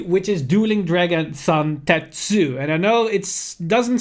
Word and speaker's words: Zantetsu: which is Dueling Dragon Zantetsu. And I know it doesn't state that in the name, but that's how you actually pronounce it if you read the hiragana the way that it should be read.